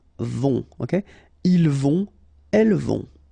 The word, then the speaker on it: vont: Then, ils vont. Final T not pronounced. And then, O and together. On vont.